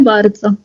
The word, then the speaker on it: bardzo: Dziękuję bardzo. Dziękuję bardzo. ¿Barça? Sí, bardzo. ¿Barça? Ah. Bardzo. Sí. Correcto. Okay. Es como el equipo este de fútbol Barcelona. Que le dicen el Barça, ¿no?